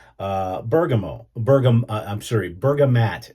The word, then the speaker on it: bergamot: Bergamo bergam I'm sorry Bergamot is I guess the the correct spelling I've been pronouncing it wrong all these years so bergamat and the bergamat is